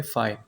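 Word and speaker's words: phi: इसकी जो प्रोनाउंसिएशन होती है पी एच आई फाई।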